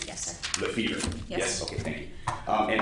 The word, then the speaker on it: Lefevre: I don't want to mispronounce your name. Yes, sir. Lefevre.